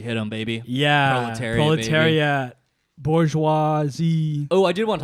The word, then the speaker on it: bourgeoisie: Bourgeoisie. Like Scorsese. Bourgeoisie.